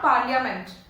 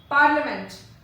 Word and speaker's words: parliament: Next is parliament. It is not parliament. It is not parliament, it is parliament.